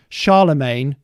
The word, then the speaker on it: Charlemagne: identify and he says charlemagne because he rhymes with champagne um which living person